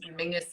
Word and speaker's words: Menzies: that for anybody else mingus is how weirdly the scottish people um that's that's how they would pronounce menzies i don't understand where